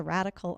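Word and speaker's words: radicle: called the radical challenge, but it's spelled like the radical on a corn seed. That's one of the first growth extensions off of a corn seed. R A D I C L E.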